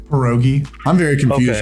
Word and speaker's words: pierogi: it wilson well uh pierogi i see i'm sorry if i'm not pronouncing it you're saying it correct not all scammers are